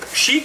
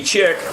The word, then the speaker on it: chic: Now, that Shabby Chic, that chic is spelled C-H-I-C, so that could be shabby chick, which doesn't have the same connotation if you ask me, so it's probably chic.